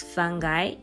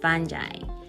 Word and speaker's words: fungi: I used to pronounce it as fungi, but because of my lecturer, he always pronounces it as fungi.